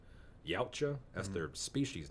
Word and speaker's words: Yautja: I don't know how y'all pronounce it, but I call it Yautja.